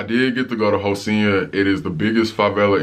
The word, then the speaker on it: Rocinha: It's spelled like rock in her, but in Portuguese it's Rocinha because the R makes the H sound.